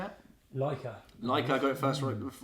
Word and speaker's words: Leica: Leica.